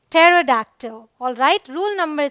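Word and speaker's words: pterodactyl: अब यहाँ देखिए PT है, इसे हम पढ़ते क्या है, टेरोडैक्टिल। ऑल राइट, रूल नंबर 3, कुछ वर्ड्स में P साइलेंट होता है जो आपको याद कर लेना चाहिए, जैसे ये है कू।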